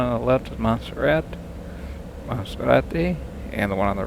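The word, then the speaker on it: Monserrate: Mount Guadaloop and Guadaloop and uh well if you speak American you say you call it Monzerat but in Colombia it's pronounced Monserati and you can see them if you look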